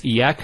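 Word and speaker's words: إيّاك: Notice the ya gets a double vowel because of the shadda there.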